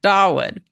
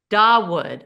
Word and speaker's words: Dawood: Dawood. Dawood. Okay. Dawood, my dear friend who I can't pronounce her name.